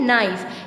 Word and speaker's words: knife: नाइफ. इसमें के silent है.